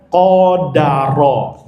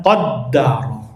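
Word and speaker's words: قَدَرَ: Dengan memfathahkan huruf dal dan ditakhfif. Takhfif itu tanpa tasydid. Jadi dibacanya qodaro jangan qaddaro fi'il madinya eh fi'il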